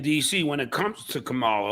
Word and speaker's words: Kamala: It's Kamala. And then people get pissed off if you don't say it that way because all right, Kamala. But because Trump purposely says it wrong all the time.